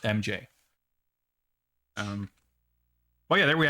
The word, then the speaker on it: R?MJ: mj except it's pronounced the r question mark silent it's pronounced mj um oh yeah there